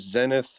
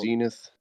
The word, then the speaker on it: Zenith: So right here, he And says Zenith. It's pronounced Zenith.